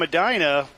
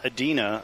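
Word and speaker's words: Edina: Carrie's from Adina, not Adena.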